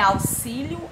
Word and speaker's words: auxílio: com som de z é auxílio auxílio ou auxílio x com som de s é shampoo ou xampu